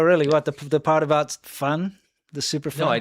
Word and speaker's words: 饭: Fun means rice in Chinese, if you didn't catch that. But it's spelled fan.